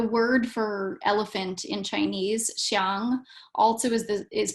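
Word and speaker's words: 象: In any case, it's again complex because the word for elephant in Chinese, xiang, also is pronounced the same as the word for image.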